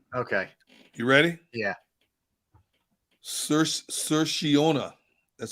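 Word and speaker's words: Saoirse: so erase Ronan oh I got the pronunciation for you okay you ready yeah sir sir shiona that's how it's pronounced that's how you say that cerseus Irish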